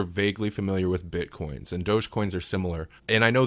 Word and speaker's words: dogecoin: Now, we don't have to get too much into um dogecoin. Am I pronouncing that right?